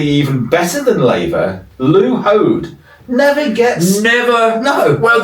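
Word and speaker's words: Hoad: Yeah, but the problem with Lou is his name rhymes with toad.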